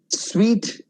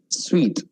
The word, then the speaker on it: suite: Suite, as in room of a hotel. Suite. What you wear is suit.